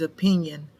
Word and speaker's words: opinion: Then we have this number 5 is opinion. It's O-P-I-N-I-O-N. It's O spelled with the O. Pin, P-I-N. Un or yun, I-O-N.